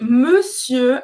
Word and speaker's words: monsieur: E aqui, monsieur, a pronúncia, presta atenção, o ON nesta palavra vai ter o som do E em francês.